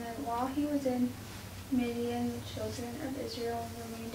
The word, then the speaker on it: Midian: Midian.